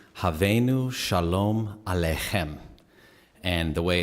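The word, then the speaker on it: Hevenu Shalom Aleichem: some time um yeah this is how you pronounces havenu shalom alejem and the way it's set rhythmically pretty much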